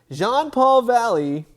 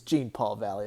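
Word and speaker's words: Jean-Paul Valley: it right this time john paul valley it's gene paul valley okay i've always said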